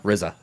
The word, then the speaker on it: RZA: RZA.